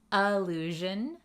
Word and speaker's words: allusion: Allusion versus illusion. Listen to that pronunciation difference. Allusion, illusion. Can you hear the difference?